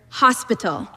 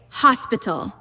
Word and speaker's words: hospital: Let's take the word hospital. In English, we say hospital. In Spanish, the letters are identical, but we pronounce it hospital. The H is completely silent, and the emphasis goes to the end.